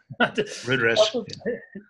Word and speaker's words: Rudresh: Rudresh.